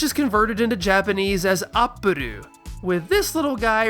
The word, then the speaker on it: Appule: Toriyama takes that, swaps the emphasis from the consonant to the following vowel, Appule, and it's so simple that nearly everyone agrees. This is Appule.